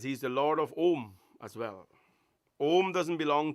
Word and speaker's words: om: that defines the world it is the sound of three syllables aoma and the lord is called because he is the lord of the three letters he is the lord of om as well om doesn't